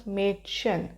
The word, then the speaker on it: Mädchen: which is English, as maid, MADE, which is made of English, and then chen. Just combine it, it becomes Mädchen.